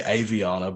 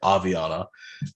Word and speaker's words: Aviana: But Aviana, in Australia, we say Aviana, but I've heard you say Aviana. Yeah, I say Aviana. Yeah. Well, but I'm actually starting to think that I'm the one saying it wrong because everyone says Aviana.